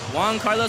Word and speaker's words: Juan Carlos: Juan Carlos, that's how you say his name, right? Yeah, for sure.